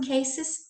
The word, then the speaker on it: cases: So in some cases, yes. Pay attention that this pronunciation, cases, cases. We don't say cases, okay? The sound is not Z, it is S, the sound of S, case, base, house, mouse.